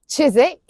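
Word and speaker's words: Chiswick: Then we have the ones with silent w Dalich Woolitch Greenwich Chisik Warick Avenue and Sabuk.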